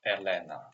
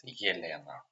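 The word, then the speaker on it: Елена: For example, when it starts with the, if this letter in the beginning of the word it's pronounced like yeah. For example, Yelena. It's not Elena, it's Yelena.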